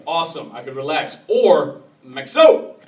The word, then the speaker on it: Maxo: I could relax," or "Maxo," accent on the O.